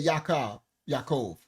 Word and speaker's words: Yaakov: The convertite said Yaakov.